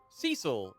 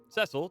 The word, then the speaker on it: Cecil: including the brooding dark hero turned light paladin cecil or cecil depending on how you'd like to pronounce it and in this video we're going